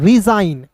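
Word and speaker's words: resign: फिर देखिए यहां पे आर इ एस आई जी एन। तो इसे पढ़ेंगे दोस्तों रिजाइन।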